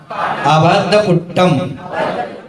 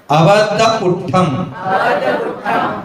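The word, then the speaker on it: अबद्धपुट्ठं: जो पස්සदी पස්සदी पස්සदी, अप्पानम अप्पानम अप्पानम, अबद्धपुट्टम अबद्धपुट्टम, टक नहीं, ठ का उच्चारण, ट नहीं, ठ का उच्चारण, अबद्धपुट्टम, एक बार ट और एक बार ठ, अबद्धपुट्टम अबद्धपुट्टम, अनन्नयम अनन्नयम, नियदम नियदम नियदम।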